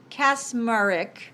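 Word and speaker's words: Kacsmaryk: in Texas Matthew I don't know how to pronounce his name cassmark Mar it's k-a-c-s-m-a-r-y-k cas murrick a trump appointee with long-standing affiliations with the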